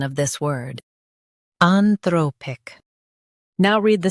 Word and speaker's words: Anthropic: Today we will learn how to pronounce the word shown on the screen. Anthropic. Both US and UK have the same pronunciation of this word. Anthropic.